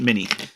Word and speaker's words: m1n1: it but this time it's spelled m one and one but i'm still calling it mini uh it's not the